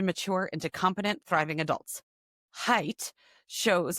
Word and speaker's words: Haidt: Oh, pronounced Haidt. Look, it's right there. It was in the blurb. Ah, look at that. We've been pronouncing it wrong this whole time.